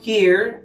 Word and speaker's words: here: Aquí, aquí en este momento, here, aquí. Mire cómo se pronuncia here. Here, digamos que esta última no se pronuncia y aquí sería como una I.